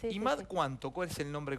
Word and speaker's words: Imad: Tu ex marido, el padre de tus hijos, está bien que lo pronuncie Imad, está bien pronunciado Imad. Imad, ¿cuánto?